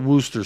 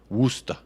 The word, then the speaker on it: Worcester: maybe I'll do that literally everyone in England calls it Wooster sauce Wooster woosta Worcester yeah you're right sent